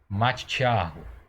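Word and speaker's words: מתתיהו: Você nota aí que esse T aqui que tem o shevá, ele quase não aparece. Exatamente por causa do shevá. Você fala ele de uma forma rápida. De novo a pronúncia, matitiarro. Ok?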